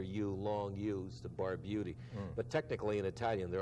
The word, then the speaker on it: Barbutti: in the air so there's your name bar beauty or Barbuda you know I said well I always pronounced it by beauty but my family did